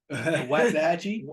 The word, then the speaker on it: Waxahachie: I feel like you didn't pronounce that part of Texas. Waxahachie?